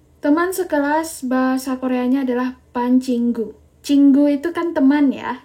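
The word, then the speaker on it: 반 친구: Teman sekelas itu bacanya adalah Ban Cinggu. Oke, jadi teman sekelas bahasa Koreanya adalah Pancinggu.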